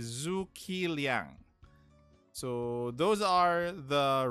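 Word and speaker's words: Zhuge Liang: um zumlian as well the pronunciation is zoo kiliang so those are the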